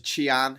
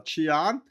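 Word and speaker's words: Xi'an: Um if you go to Chian here, uh Chian, this is the legendary um this is the former capital of China. So that the X in Chinese is pronounced a a ch sound.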